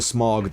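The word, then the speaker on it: Smough: I hate Orange Street and Smog. By the way, that's how I pronounce it. I'm sticking to that one. I'm not saying Smo. No matter how many video essayists pronounce it Smo, I'm Ornstein and Smog, live and die.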